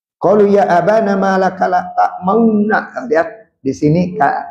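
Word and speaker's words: لا تأمنا: Makanya di sini dibacanya la ta'mauna, tidak dibaca la ta'manna gitu ya, walaupun tulisannya la ta'manna.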